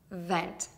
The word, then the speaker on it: vent: Vent.